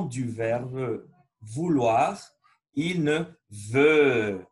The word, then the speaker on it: veut: verbe vouloir il ne veut on ne prononce pas v ux andy veux c'est qu'on faire un os un euro et on va prononcer un et mais très grave e il ne veut